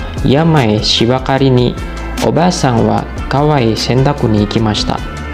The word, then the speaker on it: は: akan belajar mengenai partikel Wak partikel ini biasa kita temui di awal-awal belajar bahasa Jepang ya tapi apa sih sebenarnya partikel uang partikel wa ini ditulis dengan huruf Hiragana hak tetapi bacanya Wakwaw toke apa sih sebenarnya